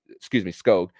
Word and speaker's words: Skoog: Wilmer Skoog was Skoog, that's how you pronounce it, according to Doug Plagans on the broadcast.